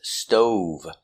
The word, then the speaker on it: stove: our first word is stove making the long o sound o stove stove I have an old